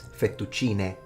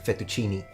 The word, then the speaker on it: fettuccine: And it's fettuccine, not fettuccini. Just like Versace, not Versace.